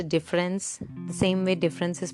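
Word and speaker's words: différance: you can you know pronounce it with a slight french twist like de france it's a portmanteau word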